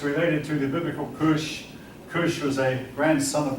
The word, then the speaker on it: Kush: went to Africa, and the K is simply a variation of the C, but it's pronounced the same way. Both of them pronounced with a K, both of them pronounced Cush.